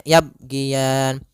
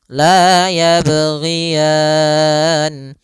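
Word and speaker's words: يَبْغِيَانِ: Maka kesalahan yang terjadi dalam membaca huruf qalqalah yang pertama dia tidak memantulkannya. misalnya yabgian. Nah, itu dia kurang tepat. Yang kedua menambahkan hamzah. Ini kesalahan juga misalnya yaban. Nah, ini juga kesalahan yang sering terjadi. Atau dia putus yaban. Nah, harusnya dia tetap mengalir berjalan dan tidak boleh putus.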